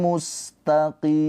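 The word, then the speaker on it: مُسْتَقِيم: Siratim mustaqim. Gitu ya. Qim. Di sini ada mat tabi'i bertemu dengan huruf yang disukunkan yaitu mim.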